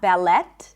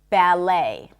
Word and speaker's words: ballet: just so you know, it is not pronounced and we just put a long A as in day at the end.